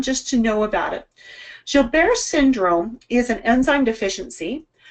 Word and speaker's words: Gilbert: I have Gilbert's syndrome. Now, how many of you know what Gilbert's syndrome is? It's spelled Gilbert's, but it's a French word, so it's Gilbert.